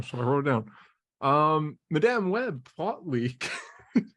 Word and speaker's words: Madame: Madame Web plot leak. Just say madam. Stop saying madame. Is it Madame? It's madam.